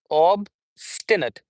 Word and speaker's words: obstinate: For British and American English, both we'll have the same pronunciation. Obistinate. Obistinate. Obis. Obstinet. Stenut. Three syllables. Obstinate. Obstet then we have the the word skeptic.